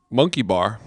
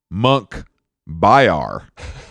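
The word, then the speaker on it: Munkhbayar: driver rating top driver his name Monkey Bar no monk byar hold on let me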